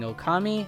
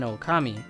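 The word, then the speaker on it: ōkami: The reason a wolf would make sense is because the Japanese word for great deity and wolf are pronounced identically, being Okami and Okami.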